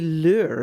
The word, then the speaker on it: lur: nickel harper and even a lure that's spelled l-u-r a long natural viking